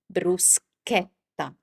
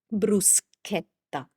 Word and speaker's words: bruschetta: It's never ever sh like it happens many times in English.